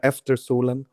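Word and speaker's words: Efter solen: Is that how you pronounce it? Yeah. Eter Solen. After Solen.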